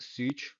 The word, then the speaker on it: Szucs: It's like Martin, like with an underline, Szucs, like pronounced Szucs, 95, the year I was born.